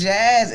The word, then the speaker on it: JAZS: It's Jazz. It's spelled Jazz, but with an A.